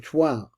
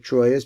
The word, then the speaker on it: Troyes: The transitional period is represented by the Shemaya of Troyes. Now this looks like Troyes, but I have a French friend told me it's pronounced Troyes.